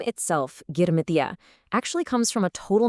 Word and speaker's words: Girmitiya: So, have you ever come across this word, Girmitiyas?